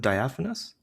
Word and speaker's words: Diaphanous: How do you pronounce it? Diaphanous.